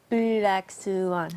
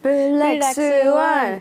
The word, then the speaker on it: 블랙스완: Yeah, except, with the Korean pronunciation, it would be 블랙스완. 블랙스완.